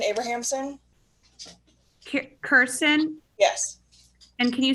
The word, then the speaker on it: Kirsten: for the record please sure my name is kirsten abrahamson kirsten yes and can you spell that k-i-r-s-t-e-n okay thank you and your address